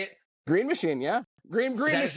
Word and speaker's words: Green Machine: Green Machine, yeah.